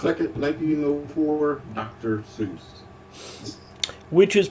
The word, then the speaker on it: Seuss: Yeah, by the family and the author, Theodore Geisel, it was pronounced Zeus.